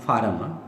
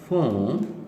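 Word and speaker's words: form: अब देखें एग्ज़ाम जब होता है तो हम कहते हैं कि exam फार्म, that is इन फार्म, it should be pronounce as फोम, exam फोम।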